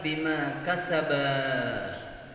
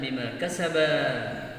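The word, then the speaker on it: بِمَا كَسَبَا: Faqta'u aydiyahuma jazaa'an bima kasaba nakalan minallah wallahu azizun hakim. Ya, karena apa? Banyak orang yang membacanya banyak dibaca pendek. Bima kasabana kana minallah. Ya, jadi yang benar adalah bima kasaba.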